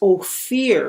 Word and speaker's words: Ophir: to king solomon and they pronounce it as oh fear because oh fear is like light or gold okay and so the